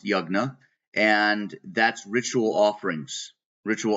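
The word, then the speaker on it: yajna: spelled Y A J na a but it's pronounced yagna and that's ritual offerings ritual offerings and sacrifices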